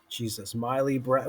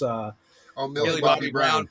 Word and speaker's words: Millie Bobby Brown: I was telling Ed, and I always get the name wrong from that show. Miley Brown. What is it, Ed? Miley Brown, or this from this? Millie Bobby Brown.